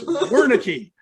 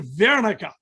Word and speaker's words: Wernecke: It's Saxon, not French. It's Wernecke. Or if you're German, Wernecke.